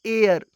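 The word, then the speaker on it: heir: है next example है एयर इसमें भी एच साइलेंट है और इसका उच्चारण बोबल साउंड की तरह हो रहा है इसलिए एन आर्टिकल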